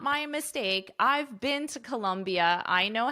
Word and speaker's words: Colombia: I've been to Colombia. I know how to spell it. Colombia is with an O, but the pronunciation is exactly the same.